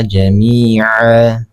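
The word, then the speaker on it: جميعا: Nah, mad iwad ini terjadi apabila ada hukum atau huruf yang berharokat tanwin kemudian dia berada di akhir kalimat, ya, dan bertemu dengan tanda wakaf. Cara membacanya tanwinnya dihilangkan. Jadi qatalan nasa jami'a. Jadi seperti itu. Qatalan nasa jami'a. Ya, tanwinnya dihilangkan.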